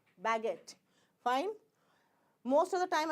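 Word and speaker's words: baguette: is not spoken spoken U is not spoken youu is not friendly with uh uh I and you is not friendly with G fine so here it is called baget this is how you pronounce baget fine most of the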